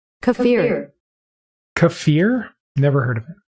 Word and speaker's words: kefir: Pronunciation: Kafir.